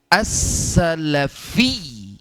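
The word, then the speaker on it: السلفي: ini insyaallah Allah wasalafiyu ini sebetulnya secara penulisan ynya itu bertasdid assalafiyu ya jadi dalam bahasa Arab sebetulnya pengucapannya asalafi atau kalau tanpa alif lam Salafi Siapa yang masih ingat pembelajaran tajwid ini alif lam apa asyamsiah atau alqam Mariah ya as karena lamnya tidak tidak dibaca masih ingat pembahasan tersebut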